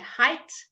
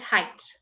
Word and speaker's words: height: an I sound again your gh might and height let's do that might and height good the gh is silent as for many other times okay then we got